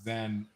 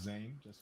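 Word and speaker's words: Zain: Zane bye -bye or the way of pronouncing my name is Zen Zan not Zane Zen yeah zen zen zen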